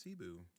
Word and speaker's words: Cebu: Argentina, uh, Mane and like I think, uh, Kibu in the Philippines because I forgot. We they they got everywhere these people with these boats pronounced Cebu.